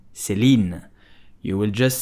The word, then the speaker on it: Céline: So how do you pronounce Céline? You will just say Céline, Céline, Céline, Céline.